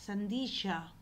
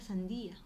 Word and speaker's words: sandía: a los chicos no los fruteros decían santillas sandilla y no el alumno venía y escribía sandilla tal como lo había escuchado en el mercado pero en verdadera sandía Entonces eso sucede el